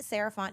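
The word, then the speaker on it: Sarah Font: find me at Ms sarant no so MSS r a h f o n t n o t the t is silent um that's me on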